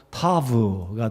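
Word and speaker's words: ת: 그래서 맨 마지막 히브리어 알파벳 단어는 T 발음으로 티귿 발음으로 타브가 돼서 22번째고요.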